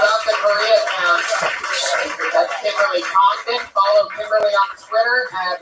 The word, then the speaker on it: Congdon: That's Kimberly Congdon. Follow Kimberly on Twitter at, what is it again? Kimberly Congdon. Kimberly Congdon, spelled like it sounds.